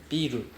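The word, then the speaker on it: ビル: So biru is beer, biru is building.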